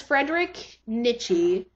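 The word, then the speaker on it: Friedrich Nietzsche: um I'm not quite sure how it's spelled it's spelled uh his name is Frederick Nichi f r i e d r i c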